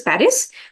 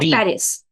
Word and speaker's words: Paris: that the capital is Paris but in French we say it as Pari not Paris yes par and it's